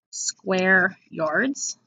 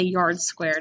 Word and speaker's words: square yards: put a reminder that this right here is pronounced square yards a lot of kids say yards squared and that's totally wrong you would not walk